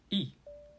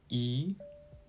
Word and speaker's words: 一: However, when the character following E is the first, second, or third tone, E is pronounced as the fourth tone, that is, E. When the character following E is in the fourth tone, E changes to the second tone, pronounced as E.